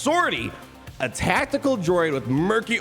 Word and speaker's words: 50R-T: the star wars universe i thought it was 5-0 rt but it's pronounced sortie a tactical droid with murky origins somewhere deep